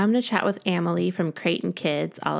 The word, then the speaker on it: Amelie: So my name is Amelie. It's pronounced like family, Amelie like family.